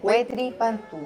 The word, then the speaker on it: Huetipantú: Estamos a 24 de junio, justo para Huetipantú. Dije bien, Huetipantú. Sí, muy bien pronunciado.